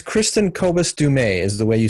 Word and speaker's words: Kristin Kobes Du Mez: It's Kristin Kobes Du Mez is the way you say her name properly.